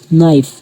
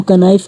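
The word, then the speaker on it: knife: जैसे पहली एग्जांपल है हमारे पास नाइफ। तो इसको हम कनाइफ कभी नहीं पढ़ते। क्योंकि यहां पे जो पहला वर्ड के है, के लेटर है, वह इस वर्ड में साइलेंट है।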